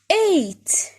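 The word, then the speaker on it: eight: 8. G and H are silent.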